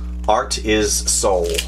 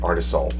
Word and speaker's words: Artisul: guide the limited warranty art is soul so art is soul i guess that's how you say it artisol so very cool i